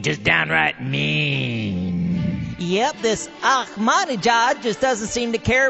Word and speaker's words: Ahmadinejad: I just see it in the newspaper, and I've been told by a linguistic expert that it's pronounced like this. Ahmadinejad. Ahmadinejad? Yeah, I think so. Ahmadinejad.